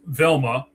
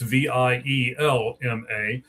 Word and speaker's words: Vielma: All right, so the second guy, Jimmy, is Carlos Velma. I believe that's how you say it. It might be Vielma. It's Vielma.